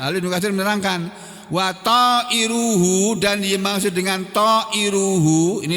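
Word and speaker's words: طائر: subjek, maka karena dia mubtada bunyinya harus bunyi u, ta'iru, bukan ta'iro. Kalau di sini sebagai sebagai objek, maka bunyinya ta'iro.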